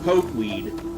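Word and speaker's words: pokeweed: poke weed and yes I know it's pronounced poke weed but I keep wanting to call it poed po weed uses allergies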